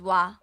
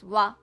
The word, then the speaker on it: は: So when you wanna type this hiragana, you always type as H and A. But it is pronounced as ha and sometimes wa. When it is used as a particle, it is pronounced as wa.